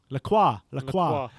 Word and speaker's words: Lacroix: The centre-back from Wolfsburg, Maxence, how you pronounce that? Lacroix? Lacroix.